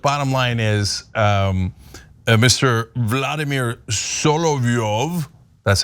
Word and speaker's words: Solovyov: Vladimir Solovyov, that's how you say it, it doesn't have any idea how America works.